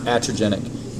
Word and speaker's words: iatrogenic: It can also be iatrogenic, which is spelled I-A-T-R-O-G-E-N-I-C. I-A-T-R-O-G-E-N-I-C. It's pronounced iatrogenic. The I is supposed to be silent.